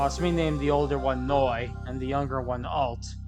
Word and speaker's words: Neu: Noi is spelled N-E-U. It's German for new.